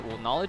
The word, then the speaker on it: Kn0wledge: I think the O isn't pronounced any differently than it would be otherwise, so it's just pronounced Kn0wledge.